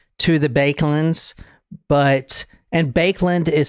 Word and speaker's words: Baekeland: related per se to the bands but and bakeland is spelled b a e k e l a